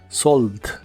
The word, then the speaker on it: solved: en inglés es solved la e no se pronuncia solo la d del final solved solved y usaremos el